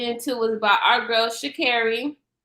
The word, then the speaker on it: Shakira: was about our girl shakira that's how you say her name it ain't shikaru i'll be saying everybody